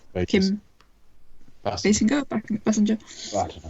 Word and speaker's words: Basinger: I always tend to say Basinger because that's how it sort of entered pop culture, but I think it is pronounced Basinger. That's how they pronounce it on The Simpsons.